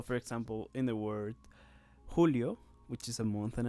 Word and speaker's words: julio: it now we have the letter j which in spanish is pronounced like ha hota and yeah in